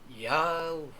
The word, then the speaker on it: YAOHU: mo ang ang tamang pag-pronounce non ay yao yahu sparing ng pronunciation y a w h o o yahoo pwede rin naman k ginagamit natin sa ating church why A o hu.